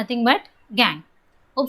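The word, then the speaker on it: gangue: ऐसे इम्प्योरिटीज़ को हम कहते हैं गैंग। अब बहुत से बच्चे उसको गैंग्यूज, गंगू एंड सो ऑन कहते हैं, बट ऐसा नहीं है। वी हैव टू से प्रोनाउंस इट प्रॉपरली। इसे हम कहते हैं गैंग।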